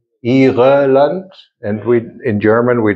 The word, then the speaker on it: Irland: Irland. And we, in German we drop the E. Irland. Irland. Is the letter we have to practice. Irland.